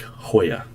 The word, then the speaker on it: Hoya: Oh, Tullius is saying his last name is pronounced like Hoya, which is not how I would have guessed.